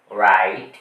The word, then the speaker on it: write: Silent হয় number two আর এর আগে যদি ডব থাকে তাহলেড ডবলি টা হবে সাইলেন্ট।